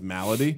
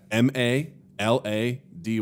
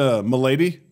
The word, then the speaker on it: Malady: this character's name is malady yeah ma la dy and he's like did you turn that into m'lady I was like that is not pronounced m'lady maybe it is though